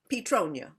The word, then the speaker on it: Petronia: They would put emphasis on the Petronia, Oh. on the first syllable.